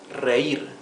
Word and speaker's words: reír: Reír. Reír has two syllables. Re-ir. You can see the difference between the pronunciation of the first R and the last one. R and R.